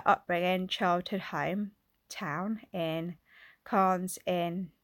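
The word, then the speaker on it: Cairns: stems from her upbringing childhood home town in Kahn's in Cannes is pronounced in the tropical North Queensland of Australia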